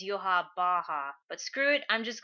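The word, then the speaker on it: Yhwach: So this week's chapter we get the backstory of yua Bach at least that's what I was calling him turns out the way you say his name is yua Baja but screw it I'm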